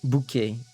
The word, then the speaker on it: bouquet: Consonants are silent like um like the t the t in bouquet bouquet bouquet like you know in a bouquet a bouquet of flowers there's a t at the end but the t is silent but if you don't